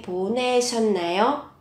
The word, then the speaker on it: 보내셨나요: Các bạn chú ý, phát âm là 셨나요? Biến âm 보내셨나요?